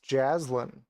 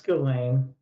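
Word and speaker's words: Ghislaine: has any ties to gain Maxwell you know what else is interesting about glain Maxwell what that is a submarine pilot oh I think it's Jaslin Jaslin Maxwell no it's gain oh is it it's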